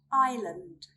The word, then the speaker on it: island: We do not pronounce the letter S when it comes before the letter L or after the letter I, sometimes at the end of a word.